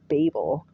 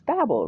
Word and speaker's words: Babel: Tower of Babel Babel I think I heard it pronounced Babel my entire life until I joined the church and now all of a sudden it's Babel Babel and where do you